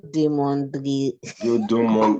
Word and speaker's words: demanderai: The E after the D is silent.